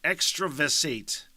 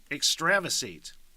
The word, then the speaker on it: extravasate: stop this fucking podcast uh hopefully not though extravasate extravisate I think that's what it is e-x-t-r-a-v-a-s-a-t-e and I did look at the pronunciation to pronounced it as I was going